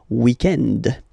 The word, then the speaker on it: weekend: So if we're talking about the weekend, okay, but then pronounce it the French way, weekend. Le weekend, okay?